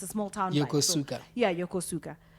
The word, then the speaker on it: Yokosuka: Small Town Yuka yeah Yokosuka and yokuska as the Americans say so the build buildings